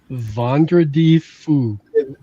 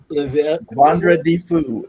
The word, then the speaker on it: Vendredi Fou: the French-speaking, we have, and I can't even pronounce that. But anyway, it's Vendredi Fou. Vendredi Fou.